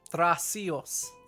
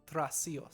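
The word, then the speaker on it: Trasios: does not know how to say his name tracios t-r-a-s-i-o-s tracios okay okay um i say we tell he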